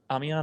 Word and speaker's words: Amiens: How do you pronounce that? Amiens, I think.